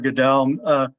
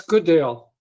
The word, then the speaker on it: Goodale: Goodell. By the way, are we pronouncing your name right? I've heard it pronounced like four different ways. Is it Goodell, Goodell? It's Goodale. Goodale.